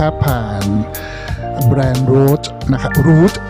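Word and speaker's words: Rouge: แบรนด์ Root นะ ครับ Root อ่า ต้อง ออก เสียง ไง R Root r o u g e Root นะ ครับ ก็ ก็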